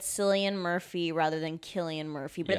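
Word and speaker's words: Cillian: And then realizing later, "Oh my god, the whole podcast we talked we said his name was Sillian Murphy."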